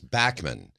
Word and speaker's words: Bachman: when BTO came out Bachman Turner overdrive that's what everybody said so he just had to go along with it but his name is Backman I don't care well